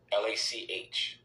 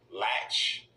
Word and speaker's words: Lach: Now, this article was written by this creep called Eric Lach, Lach, and it was published last month.